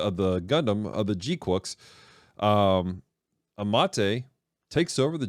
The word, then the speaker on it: GQuuuuuuX: There's a fight between Charasold in the Red Gundam and in Zeon's very own Gundam, the Gquex, or Gqu is how they pronounced it in the show.